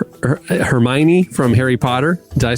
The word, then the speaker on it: Hermione: Was it Hermione from Harry Potter?